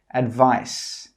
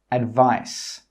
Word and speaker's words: advice: 'Advice' with a C has a /s/ sound. Advice. Advice.